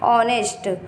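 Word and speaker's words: honest: एच के बाद जब भी एन आता है एच साइलेंट होता है। एच ज्यादातर वोवेल होते हैं तो वो साइलेंट होता है। जैसे यहां पर देखो वोवेल है। ये साइलेंट है। इसको पढ़ते कैसे हैं? ऑनेस्ट।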